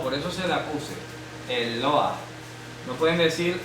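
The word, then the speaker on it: אלוה: Porque ya suena a Este es el mapic, es mapic, señala que la letra e se debe de pronunciar. ¿Cómo lo pronuncia? Eloa. Eloa. Eloa. Eloa. Sí, el mapic hace que la e se pronuncie. Si no tiene mapic, no se pronuncia.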